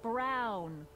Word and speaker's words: Brown: to a tee that's Emmett Brown rhymes with clown which I'm beginning to